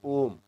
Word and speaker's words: ohm: Okay, and it is pronounced as ohm, OHM, ohm.